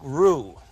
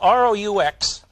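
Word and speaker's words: roux: Cooks just a minute we make a basic Rue it's spelled rux in Dallas they call it a rux I'm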